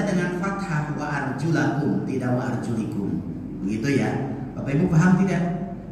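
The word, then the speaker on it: وَأَرْجُلِكُمْ: Maka membacanya bukan wa arjulakum, tapi wa arjulikum.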